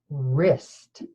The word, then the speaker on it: wrists: okay first sound rah this is gonna be another one of our silent letter pairs and we're gonna use WR okay let's say the sounds